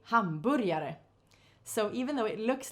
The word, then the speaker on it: hamburger: dallas land and hamburier we spell it exactly like the english spelling of the food hamburger but in swedish we say hamburir and about the food we say hamburyare so even though it